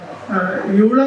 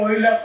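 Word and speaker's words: Euler: അതിൽ പടിഞ്ഞാറ് യൂളർ എന്ന് ഞങ്ങളൊക്കെ സാധാരണ പണ്ട് പോലെ ഓയിലർ എന്നാണ് എൻ്റെ ഉച്ചാരണം.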